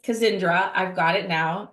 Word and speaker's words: Kazindra: Kazindra.